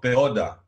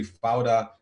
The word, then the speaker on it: Fauda: They call it Peoda in the beginning. They didn't know how to pronounce it, but now it's such a common word in Israel. You can find it everywhere. Everybody talks with it and they say Fauda, and they mean it chaos. I mean, the whole world has got the pronunciation right because of the show.